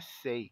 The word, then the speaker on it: say: que é a palavrinha say, que significa dizer. O S tem o som de S, o A tem o som de E, o Y é mudo.